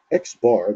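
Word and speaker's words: x̄: the sample mean is given by xbar that's how we pronounce uh the notation that we have here xbar and it's equal to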